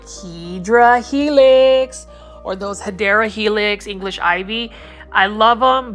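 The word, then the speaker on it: Hedera helix: here we do have a hedra helix this um hadera Helix which is the correct way to say English ivy um is is for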